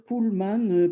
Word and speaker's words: Pullman: francis en disant pullman je devrais dire pullman parce que c'est l'homme qui tire un pool même si on si